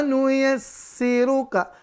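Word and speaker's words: نُيَسِّرُكَ: Tapi jangan lupa sinnya bertasydid. Maka jangan lupa tekan dan tahan. Kita ulangi bacanya. Wa nuyassiruka.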